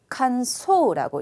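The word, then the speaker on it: 感想: 자, 그리고 B번에 있는 거 틀리시기 쉬운데요. 간소라고 읽죠.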